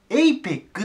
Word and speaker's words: APEC: をまず英語 APEC これアッって読みたくなるんだけど最初 A です APEC て言いますこれででこれ